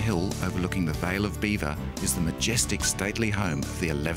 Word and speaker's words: Belvoir: belvoir meaning beautiful view the english didn't like the french association so they changed the pronunciation to beaver the surrounding countryside is